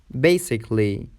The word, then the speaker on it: basically: A is silent in the suffix ALLY. It's tricky because it looks to be a syllable, but it is not. For example, romantically, basically, musically, logically, artistically, and typically.